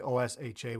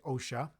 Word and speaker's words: OSHA: Canada most European countries Osia so we don't say oh Sh a we say OSHA and OSHA is Occupational